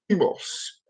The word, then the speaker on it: Deimos: Now, Mars has 2 moons, it does, and the moons are called Phobos and Deimos. I might have mispronounced Deimos, but it's Phobos and Deimos.